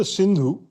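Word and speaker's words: Sindhu: The blessed Persians couldn't pronounce the letter S. So the river Synindhu right was the big barrier that many conquerors and migrants and so on found a challenge to cross. So the people east of the Sindu they called the Hindus because they couldn't say in they couldn't say the S.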